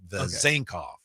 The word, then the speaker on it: Vezenkov: And so the emphasis is on the last two syllables. Vezenkov. Vezenkov. Okay. Yeah. Not Vezenkov.